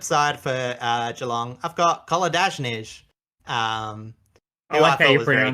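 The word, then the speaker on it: Kolodjashnij: And on the flip side for Geelong, I've got Koladajnij, who I thought was very good. That. A lot of Koladajny. I know. I like to pronounce the second J. It's wrong.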